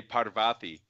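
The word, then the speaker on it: Parvathi: know what I mean but a spell PA r-va thi right but it's pronounced ah you know what I mean so I would say part of ah fie and like send it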